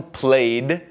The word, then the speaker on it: played: vez não é Cook mesma coisa com played só que agora é uma um som de D aqui play play e não uma sílaba extra e finalmente watch mais